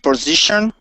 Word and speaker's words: position: Position. Okay, now make sure you use a short I sound there and say position.